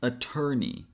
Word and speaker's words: attorney: Then the last syllable E and Y make one sound only E. So this syllable is knee. So it becomes attorney.